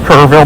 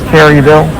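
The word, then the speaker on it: Kerrville: This is This is up near Kurveville and it's pronounced Kurveville, not Kerryville.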